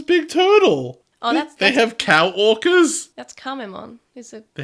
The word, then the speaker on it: Kamemon: Oh, They have cow orcas? that's Kamemon. Is it They have cow orcas. cow orcas? Well, it's spelled co-worker, but it's Oh, pronounced cow orca.